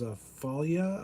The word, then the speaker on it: Fallujah: Now this one's a Falia, I think is how you say it. It's FALLUJAH.